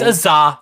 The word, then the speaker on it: Azah: What am I pronouncing? It's Azah, John. Remember? Azah. You made fun of me last show.